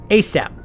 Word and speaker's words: ASAP: response is yes sir asap pronounce a sap an acronym for all